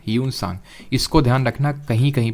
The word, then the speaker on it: ह्यूनसांग: इनके टाइम पे एक ट्रैवलर आया था और उसका नाम था ह्यूनसांग। ये माना जाता है कि ये सेकेंड चाइनीज़ ट्रैवलर था इंडिया में। स्पेलिंग आई थिंक इसकी HIUEN होती है ना, ह्यूनसांग।